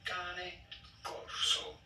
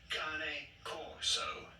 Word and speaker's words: Cane Corso: In Italian, this would be said as cane corso. Cane corso. However, in English, this is usually pronounced as cane corso.